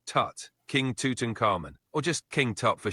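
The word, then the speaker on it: Tutankhamun: king's name properly haha love the enthusiasm it's pronounced Tut King Tuton caran or just King top for short all right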